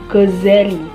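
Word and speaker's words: Ghazzali: wilayah khurasan Iran akhir-akhir namanya kadang diucapkan Ghazali 2z artinya tukang pintal benang karena pekerjaan ayahnya seorang tukang pintal benang wol sedangkan yang lazim ialah Ghazali 1-z diambil dari kata Godzilla nama kampung kelahirannya Al Ghazali belajar ditempat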